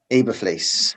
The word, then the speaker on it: Eberflus: I pronounced his name wrong. I do apologize. Is it Matt Eberflus? Eberflus.